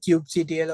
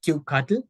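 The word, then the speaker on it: kubectl: a local cluster and you can use a command called Cube CTL or we also call it Cube cutle you can pronounce it any way you like you can use the cube cuddle command you don't need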